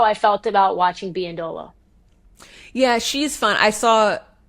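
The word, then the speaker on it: Biyendolo: Lynn, do I pronounce it Biandolo? Biandolo.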